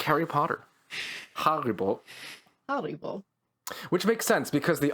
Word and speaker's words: Haribo: think of mine um is apparently how you pronounce it so more like harry potter haribo which makes sense because the oh i've always